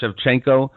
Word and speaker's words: Shevchenko: I don't know how to pronounce her last name, Shevchenko.